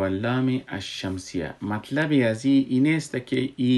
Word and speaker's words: الشمس: میشه، نوشتم میشه، و در الشمس که ما نوشتم میکنیم لامش تلفظ نمیشه اما نوشتم میشه. ما او را الشمس میخوانیم و حرف بعدی که بعد از لام آمده او مشدد میشه، یعنی در حقیقت دتا